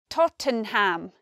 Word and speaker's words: Tottenham: What surprises us about the pronunciation of Tottenham is that it's not three syllables. You might expect Tottenham. It's not that, we say Tottenham.